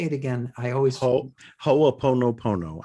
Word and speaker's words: Ho'oponopono: I always Ho'oponopono. I just pronounce every. Ho'oponopono. That's it. I pronounce every syllable.